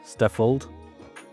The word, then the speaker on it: Stratfold: Now, today I'm honored to have my guest here, Michael Stefold. I hope it's perfectly pronounced.